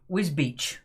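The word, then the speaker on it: Wisbech: Wisbeck pronounced Wisbeach.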